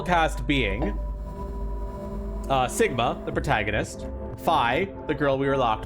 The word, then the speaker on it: Phi: It's pronounced Phi, Dumadet.